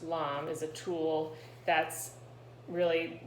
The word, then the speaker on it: lame: A lame, spelled L-A-M-E, it looks like lame, but it's pronounced lame, is a tool that's really just a straight razor.